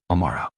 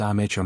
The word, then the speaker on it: Amara: the boarding pass and attempted to pronounce it. "Amara. Go ahead." It wasn't even close. Amara kept her smile, kept her composure, and gently corrected her. "It's actually pronounced Amara, ma'am."